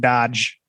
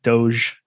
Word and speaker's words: Doge: you mispronounce deutsche i i always call it dodge uh but it's doge i don't know i